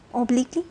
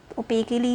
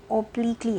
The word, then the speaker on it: obliquely: OBLIQUELY, ओब्लिकली या ओपेकली नहीं है, ये ओब्लिकली है।